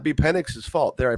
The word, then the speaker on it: Penix: And again, and that may not be Penix's fault. There, I pronounced it correctly.